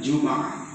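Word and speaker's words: جمعة: Bisa, ada juga cara membacanya Jum'ah. Huruf mimnya di fathahkan, sama seperti atas wazan lumazah sama humazah.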